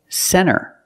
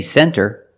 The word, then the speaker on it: center: first example is NT when you see NT a lot of times you don't hear the T example Center of course you can say center it's correct but a lot of Americans will pronounce it Center or this word 20.